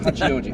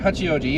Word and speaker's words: Hachioji: Um That's how you pronounce it. Hachioji. Hachioji, yeah.